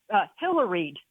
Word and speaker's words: Hillaried: And I coined a little phrase, Hillaried, and it rhymes with pilloried.